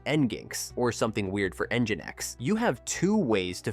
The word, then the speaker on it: nginx: Click Generate and listen to how the voice pronounces these common problem words. The data from nginx shows how the schedule affects our route planning.